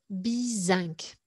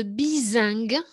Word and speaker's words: bizingue: Donc, aller de bizinc. Il faut la prononcer un peu différemment. Elle a été compliquée pour moi à vous faire trouver. Aller de bizingue, c'est la vraie expression.